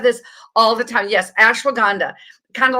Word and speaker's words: ashwagandha: It's ashwagandha. It's spelled ASHWANGHANDA. It has a ASH. Say it one more time. WANDA, like ashwa, and then GHANDA, ashwagandha. And this ashwagandha is a cortisol eliminator.